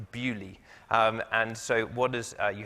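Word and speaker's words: Beaulieu: if anyone's been here you might think it's pronounced earlier it is not it is pronounced Bewley and so what does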